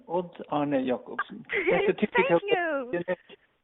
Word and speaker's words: Odd-Arne Jacobsen: And you pronounce it Odd-Arne Jacobsen. Odd-Arne Jacobsen.